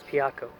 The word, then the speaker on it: Piaco: Pronounced Pico now, but the original pronunciation was Piaco, Spanish.